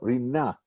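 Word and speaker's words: רִנָּה: Actually, today, one would pronounce this with the stress on the second syllable, the last syllable, rina.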